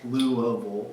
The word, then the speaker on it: Louisville: To me, it was just the way words naturally formed in my mouth, shaped by my upbringing in Louisville, pronounced Louisville.